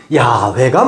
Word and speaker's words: 야훼: 이것의 원형적인 발음은 야훼가 맞다라는 게 다수설이에요, 지금은.